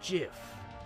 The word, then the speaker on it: GIF: your head like a gif it's not the truth it's pronounced jiff huh dot jiff like the peanut butter the creator said so